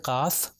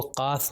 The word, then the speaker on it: قاف: تو یہ قاف جو 2 نقطے والا ہے یہ تھوڑا موٹا پڑھا جاتا ہے، تو اس لیے میں تلفظ ابھی کر رہا ہوں تاکہ ڈفرینشیٹ صحیح طریقے سے ہو سکے.